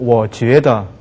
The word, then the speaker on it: 觉得: 네, 이번에는 잠자는 게 아니고 느끼다 할 때는 느끼다 할 때는 찌아를 읽지 않고 반대로 다르게 쥐에다라고 있죠. 그래서 我觉得하지 말고 我觉得 아니면 觉得 이렇게 발음을 쥐에로 발음하십시오.